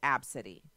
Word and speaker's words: Abcde: c ee d ee it's ABCDE literally just the first letters of the alphabet no the first letters capitalized the rest of letters are all lowercase and then she pronounces it AB City such a shame such